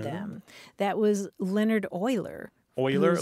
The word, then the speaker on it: Euler: Euler, like O-I-L-E-R, Euler? Well, it's spelled E-U-L-E-R, but he was Swiss.